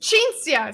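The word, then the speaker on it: Cinzia: It's an Italian name. Okay. And you say it chinsia.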